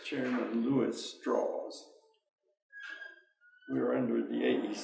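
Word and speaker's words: Strauss: as well as chairman straws he pronounced his name straws rather than straws and uh straws visited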